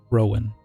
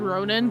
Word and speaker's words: Rowan: What'd you say his name was? Rowan. Roman. Okay. I thought you said Ronan, so I was clarifying for my own notes.